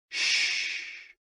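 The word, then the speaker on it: xu: sounds are X U pronounced like shhh with a deep sigh which is associated with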